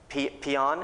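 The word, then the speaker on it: paean: And then they wrote a letter, that's saying they were treating well, and they said, we P-E-A-E-N, peon, it's pronounced in English, so it's like we peon Kim Il-sung, we peon North Korea.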